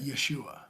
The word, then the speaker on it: Yeshua: Okay, and you would pronounce that Yeshua.